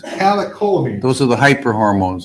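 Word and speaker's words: catecholamines: The CEW allegedly causes great pain and this led to increased calomines. How do you say that? Calio, maybe you can help me out. Okay, thank you. Catakolamines. Calakolamine.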